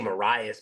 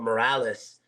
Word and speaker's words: Morales: Yeah, I don't want to say Marias, but Morales.